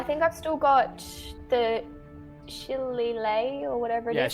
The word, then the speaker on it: shillelagh: It's pronounced Shillelagh. Shillelagh.